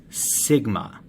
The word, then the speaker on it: sigma: symbol for standard deviation it is read as sigma okay that's how you pronounce that symbol sigma in this equation up